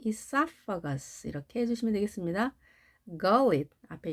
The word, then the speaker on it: esophagus: esophagus라는 강세는 O에 있습니다. 그래서 E는 약하게 발음하고 esophagus 이렇게 해주시면 되겠습니다.